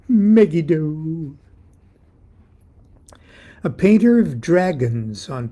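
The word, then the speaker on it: Megiddo: hero of megido and I pronounce it megido a painter of dragons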